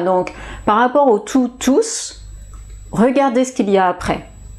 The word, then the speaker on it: tous: pluriel je prononce tous s'il y a un nom à côté tout au pluriel tear us je ne prononce pas us voilà c'est la